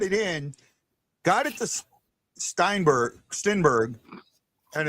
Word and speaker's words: Stenberg: Stenberg.